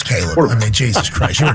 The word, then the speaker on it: Caleb: He makes Cleve Williams. It's Caleb.